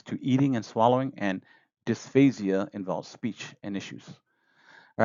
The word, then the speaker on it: dysphasia: Dysphasia, I'll say it like that, dysphasia refers to difficulty with speech.